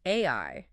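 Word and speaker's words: 愛: In Japanese, the kanji character for love is pronounced AI.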